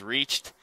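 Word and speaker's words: REACHT: e a c HT it was confusing for a while but we figured out how to say it it is reached you can download the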